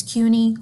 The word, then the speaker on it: CUNY: again CUNY cultural poor the SPS is silent so it's unique cultural core rhymes with four unique cultural core so please I don't want to hear Kenny cultural corpse because we're not a dead body it's CUNY cultural core ok so here's a